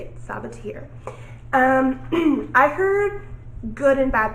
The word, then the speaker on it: Sabaa Tahir: That's how you say it, Sabaa Tahir.